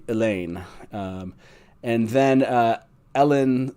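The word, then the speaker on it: Elayne: aain and elen um e l YN is clearly meant to be elain um and then uh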